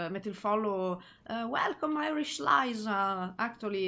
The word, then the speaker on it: Liza: Che tutti quanti, quando tipo metto il follow a dei canali stranieri, fanno welcome Irish Liza, io Irish Lisa, but it's Liza, ok, però io lo pronuncio male, avete ragione.